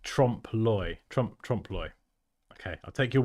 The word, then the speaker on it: trompe-l'oeil: Oh, it's pronounced trompe-l'oeil.